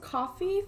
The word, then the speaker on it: Koffi: So today we are with the, I believe it's pronounced Koffi family.